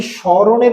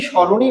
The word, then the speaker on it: স্মরণ: উচ্চারণ তারপরে দেখেন স্রণ আমরা কি স্মরণের উচ্চারণ করি স্মরণ বলি না সমরণ বলি আমরা নিশ্চয়ই স্মরণই বলি এখানে সমরণ বলি